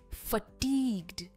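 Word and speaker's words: fatigued: Next word है फटीग्ड। टीग्ड पर इसका स्ट्रेस है। फटीग्ड।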